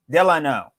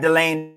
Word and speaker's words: Delano: eleanor you all know it's eleanor it's eleanor delano delano delano delano delano not delane nor that's not people said it people said